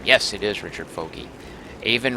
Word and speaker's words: Aven: Aven rhymes with raven.